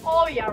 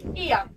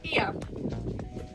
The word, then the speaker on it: Oia: I'm sure you know Oia, right? Yeah. Okay, it's time to know that. O and I in Greek pronounced like E. So now you know. Ia. Not Oia, okay? Ia.